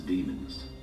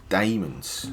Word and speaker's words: Daemons: new species known as demons. I thought it was Daemons, the way it's spelt.